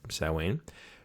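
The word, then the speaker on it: Samhain: energy between people so salween now spelled same for some stupid reason but it's pronounced salween it's the basis of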